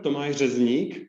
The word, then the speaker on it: Tomáš Řezník: Katharina Schleidt would be the German pronunciation, and simply Kathi. And to me, it's worse tongue twister, Tomáš Řezník, so Thomas, whenever you want to.